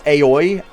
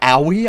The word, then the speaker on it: Aoi: pronounce hina's name I I thought it was aoi and then it's like it's owie I was like oh